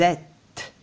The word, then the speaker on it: êtes: un accent circonflexe vous êtes je ne prononce pas le s c'est la marque du pluriel vous êtes vous êtes